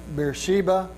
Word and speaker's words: Beersheba: worship you can see this is another pronunciation or spelling of you know we call it Beersheba I think it's written as such over here on